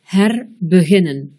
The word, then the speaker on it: herbeginnen: Dans un mot commençant par H-E-R et qui est composé de trois syllabes ou plus, le E sera bref, comme dans herbeginnen.